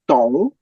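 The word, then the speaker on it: Dong: is his family name the D once again is pronounced like a t so Tong family name Chu is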